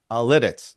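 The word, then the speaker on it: Lititz: Lidditz.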